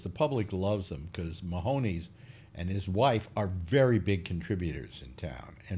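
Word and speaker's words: Mahomes: Mahoney. Mahoney's. Is it rhymes with cojones, I guess, or something like that? He held a party, and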